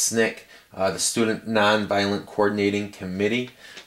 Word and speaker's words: SNCC: And SNCC, SNCC, usually pronounced SNCC, the Student Nonviolent Coordinating Committee.